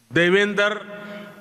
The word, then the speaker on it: Devendra: Their name, Devendra, rhymes with my own name, Narendra.